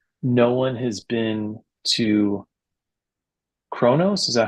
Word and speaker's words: Kronos: episode they say no one has been to Kronos. Is that how you pronounce it?